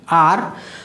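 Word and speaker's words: hour: घंटा, घंटा मतलब होता है ना आर, तो आपका ये जो एच है, ये जला एच, ये साइलेंट है बेटा। आर पढ़ते हैं बहुत से टीचर, बच्चे आवर पढ़ते हैं, आवर, एच साइलेंट है, एन आर, एन आर,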